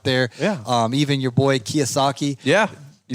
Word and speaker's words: Kiyosaki: Even your boy Kiyosaki.